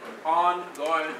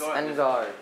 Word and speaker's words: en garde: On guard is French. It's French. Well, no, they said on guard and this. No, it's en garde.